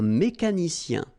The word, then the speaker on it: mécanicien: Un mécanicien. Remember, I-E-N, ien. Like here, ien.